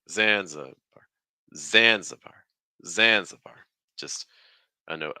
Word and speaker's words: Zanzibar: us how you pronounce Zanzibar that middle syllable take on a schwas just reduce zanza zanza the stresses on xan so that means you're taking three steps down it's like Zanzibar Zanzibar Zanzibar just a